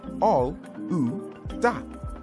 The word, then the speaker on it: Olaudah: In Nigeria, where he came from, they pronounce his name Olaudah.